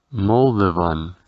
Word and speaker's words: Moldovan: Ahora, para Moldavia, diremos Moldova, Moldova, y su nacionalidad se pronunciará igual que el país seguido de una N, Moldovan.